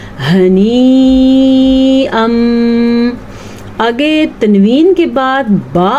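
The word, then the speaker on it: هنيئا: البتہ اس کو 5 سے 6 سیکنڈ تک لمبا کر کے پڑھتے ہیں. کیسے؟ جیسے کہ میں نے ابھی آپ کے سامنے پڑھا ہنیئا.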